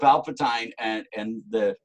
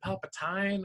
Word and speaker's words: Palpatine: I think he's even more powerful than Emperor Palpatine because is it Palpatine or Palpatine? I've always said Palpatine. I always had my Ovaltine, so right? And it was spelled the same way.